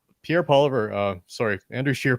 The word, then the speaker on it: Poilievre: Pierre Poilievre, Andrew Scheer pronounced it Poilievre, has been around a long time, close to 20 years.